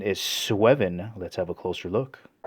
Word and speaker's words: Sweven: I believe the pronunciation is SWEVEN.